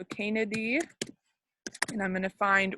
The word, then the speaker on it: Canidae: Anytime you see an AE in science, it's pronounced like E. So Canidae.